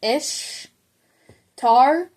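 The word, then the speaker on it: Ishtar: it's like sound sounds like it' be said ish tar SP i s h t a r hhar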